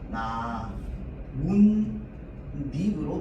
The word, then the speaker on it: 나뭇잎: 발음할 때는 어떻게 발음합니까? 나 문 닉으로 발음합니다.